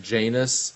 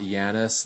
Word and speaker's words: Janus: I didn't like how they pronounced it Janus and not Janice like it is in Golden Eye.